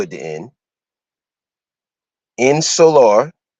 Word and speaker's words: insular: o at the end in solar like solar but ins solar okay i n s u